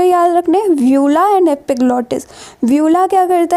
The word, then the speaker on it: uvula: और स्ट्रक्चर होता है, इसको हम कहते हैं व्यूला, ठीक है।